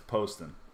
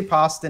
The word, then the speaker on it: Poston: popular and the bad learn how to pronounce his name right it's Poston know it half the people say pasta and half the people say post then well I used to